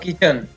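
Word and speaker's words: kitchen: इसी प्रकार के आई की और टी को नहीं पढ़ेंगे, च न, किचन।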